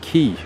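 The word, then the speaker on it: cay: area Caribbean cave or if you're in the Bahamas they actually pronounce that key like when you go to Castaway key it's spelled c-a-y I have a few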